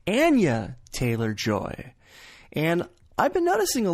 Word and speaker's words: Anya Taylor-Joy: Her name is commonly mispronounced as Anya Taylor-Joy when it's actually Anya Taylor-Joy.